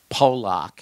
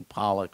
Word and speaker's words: Pollock: so when he said Sydney poock instead of Sydney Pollock we almost we almost